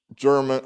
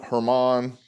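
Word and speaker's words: Germán: the series today uh german hermann i think it's how you pronounce domingo herman sounds right so it sounds more corrected domingo german that doesn't sound right so i think he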